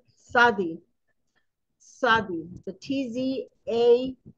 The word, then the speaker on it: Tzadi: this week we are studying the letter Sadi Sadi the TZ a d Sadi and it's pronounced okay so Sadi means righteous righteous all